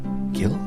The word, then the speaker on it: Gill: Gill. Or is it Jill? G-I-L-L. Daddy, G before I makes the G a soft G, so Jill. Yeah, but gills on a fish is spelled Gill.